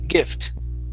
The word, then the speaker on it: gift: Instead of gift, okay, short I, gift.